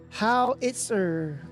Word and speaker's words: howitzer: Howitzer. Oh, Howitzer. Is that how you pronounce it?